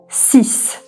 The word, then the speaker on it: six: SK 6 sis. Sis. Six demiyoruz ingilizcedeki gibi sis diyoruz. Sanki X'i S'ymiş gibi okuyoruz.